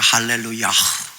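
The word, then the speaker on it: הללויה: 그래서 원래는 할렐루야가 아니라 할렐루야흐 이렇게 돼요.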